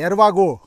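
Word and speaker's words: Hervagault: ए यु एल ट उच्चारण गर्दा खेरि चाहिँ हेर्वागो हेर्वागो भनिन्छ गो गो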